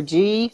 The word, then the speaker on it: ghee: Well, ghee or G, however you want to pronounce it. I've always heard it was called ghee. G-H-E? I've heard it G. I've heard it ghee. Yeah.